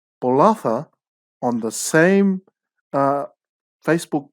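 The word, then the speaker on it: Bolaca: and the headline is olympic gold medalist which is spelt b-o-l-a-c-a blood honored as fijian drawer number one right bolatha on the same uh facebook post under fiji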